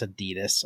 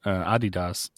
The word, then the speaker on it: Adidas: I was going to guess Adidas.